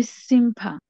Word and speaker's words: sympa: C'est sympa. সাম্পা। Sympa. মুখ বন্ধ করা যাবে না, এমটা এম এর মতো না, এটা ধরেন নাক দিয়ে উচ্চারণ করতে হবে, সাম্পা। Sympa.